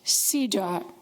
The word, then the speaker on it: CEDAW: It is known by the acronym of some of those words, CEDAW, and it's pronounced CEDAW.